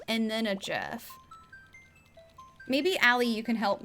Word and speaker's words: GIF: It's pronounced GIF, like the peanut butter.